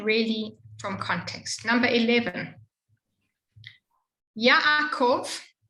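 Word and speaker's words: יעקב: Number 11, Yaakov. It's right, Yaakov, with both the a and the shva next to it. You just do the shva. Yaakov.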